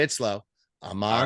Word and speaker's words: Amon-Ra: You have to pause and you have to say it slow.